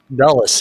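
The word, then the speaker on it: Dulles: s how do you say that D dull dullas yes that was the guy and that's the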